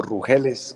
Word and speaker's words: Rúgeles: es mi querido profesor Valentín Rúgeles, o Rúgeles, como se pronuncia bien su apellido, y me contaba pues